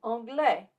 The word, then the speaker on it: anglais: Remember, we do not pronounce the consonant at the end of a word, like the final S in anglais.